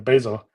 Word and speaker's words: Bazel: you're not familiar with Basel um some people call the basil it's up to you how to pronounce it so it's a actually